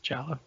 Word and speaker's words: giallo: anyone's confused but um giallo uh but they pronounce it challah but uh anyway oh